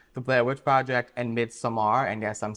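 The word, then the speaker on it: Midsommar: Blair Witch Project and mid Samar and yes I'm saying that correctly the director pronounces it midar not Midsummer but you do you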